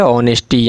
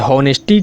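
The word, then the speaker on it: honesty: ऑनेस्टी, यानी कि ईमानदारी। अब इसको HO है तो इसको हॉ मत पढ़िएगा दोस्तों, ये ऑनेस्टी इसको बोला जाता है। हॉनेस्टी, कई बच्चे जो हैं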